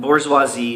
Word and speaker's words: bourgeoisie: spelled proletariat proletariat proletariat bourgeoisie is originating from the French and if you pronounced it the way it was spelled it would be Bauer gic Bauer etoac but bourgeoisie is a more appropriate